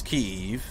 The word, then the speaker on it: Kyiv: It's a one-syllable word that you make into 2 syllables. Kyiv.